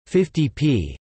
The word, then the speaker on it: 50p: The symbol for the penny is P, hence an amount such as 50p, 50 pence, properly pronounced 50 pence, is more colloquially, quite often, pronounced 50p, free pie.